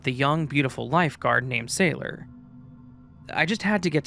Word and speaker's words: Sailor: "Sailor," she giggled. "My name is spelled S A I L O R. Oh, like a sea sailor, I replied, smiling at her.